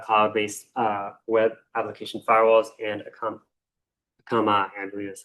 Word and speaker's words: Akamai: They do have cloud-based web application firewalls, and Akamai, I believe is how it's pronounced.